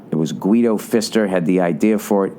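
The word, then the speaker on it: Pfister: Uh, which is the Fister Hotel. I swear to God, it's called the Fister. It's the last name of this family. It's spelled P F I S T E R.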